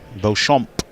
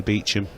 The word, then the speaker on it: Beauchamp: Beauchamp. That's how I used to name her. Used to name her Beauchamp, but I've spoken to her. I think she's just happy with Beecham, how you say it. She's told me Beecham. I'm sticking with Beecham.